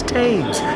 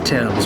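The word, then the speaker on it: Thames: we were like it's tames tames river tames river like every video it's Tims we figured it out the H is there but the a is pronounced e Tims gotcha anyway we're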